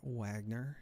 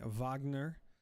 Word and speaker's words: Wagner: Robin Wagner now at one. Excuse me. Vagner as the correct pronunciation is we have Marlin's ability online to make a harpoon for a an attack on stack.